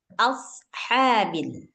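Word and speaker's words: أصحاب: Kalau ha yang ini nih ha keluar dari tengah tenggorokan. Jadi bacanya ashabil.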